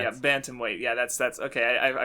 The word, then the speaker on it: bantamweight: the champion of the baton white i don't actually know how to pronounce it um i've been pronouncing it bantamweight oh there's an end there yeah bantamweight yeah that's that's okay